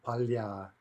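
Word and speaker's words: поля: Okay, there's a two-syllable neuter. Stress is going to jump to the opposite syllable, and we get the plural palya, palya.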